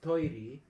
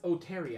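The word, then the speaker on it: トイレ: like i i okay i used to mispronounce the word for bathroom which is tori in japanese as oh terry i oh terry because i had no one to teach me what it sounded like and i was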